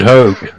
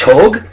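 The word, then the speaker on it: Hogg: brother right before this I was mentioning David Howe the parkland shooting ok it's pronounced Hogue he just got sick of the deck jokes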